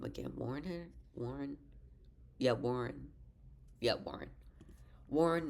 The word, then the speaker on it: Warren: Warren.